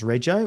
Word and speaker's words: Reggio: And everything that because for us to get the bot to pronounce Reggio, we actually had to spell everything Redjoe.